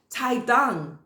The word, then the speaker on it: tuidang: He held up a flag in Washington with the words Taidang. Taidang. Now, I don't speak Mandarin, but it means quit the party. It's spelled Tuidang, Taidang.